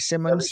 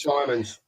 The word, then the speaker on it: Simons: Um the guy from Leicester who I can't pronounce either. Lopez from Barcelona. Javi Simmons. Simons.